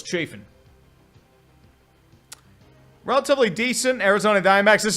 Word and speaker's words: Chafin: be better for you it's pronounced chiffon but it's uh we can't have anything cool so it's chafing relatively decent Arizona Diamondbacks